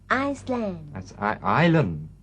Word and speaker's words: island: unusual ก็ไม่ธรรมดาแล้ว ซึ่งเกาะสมุยของเรานะครับติดอันดับกับเขาด้วยซึ่งเดี๋ยวจะได้เห็น เกาะสมุย Island ตัว S ไม่ออกเสียงซึ่งไม่รู้เขียนไว้ทำไม จริง Cooney is a travel agency in England that specialises in long-distance holidays to exotic places.